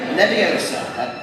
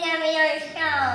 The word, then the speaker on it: Leviosa: And again, Wingardium Leviosa. Mr. Weasley? Wingardium Leviosa. Oh, look, you only take someone higher. Besides, you're saying it wrong. It's Leviosa, not Leviosa.